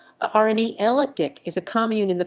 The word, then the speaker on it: Arnay-le-Duc: arne leduc arnela duck french pronunciation rne ella dick is a commune in